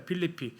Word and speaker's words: 필리피: 현 발음으로는 그때 당시 뭐라고 하냐 필리피입니다. 필리피.